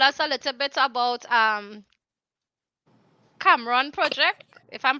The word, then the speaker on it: Cameroon: Do could you tell us a little bit about Cameron project, if I'm pronouncing it Cameroon. properly? Right, Cameroon Yes.